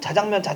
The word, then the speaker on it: 짜장면: 대표적인 게 짜장면이죠. 왜 그거 안 바뀌었는지도 모르는데 짜장면 발음할 때 자장면이라고 발음하는 건 KBS 뉴스 데스크 앵커밖에 없는데 계속 자장면 하니까 헷갈리잖아요.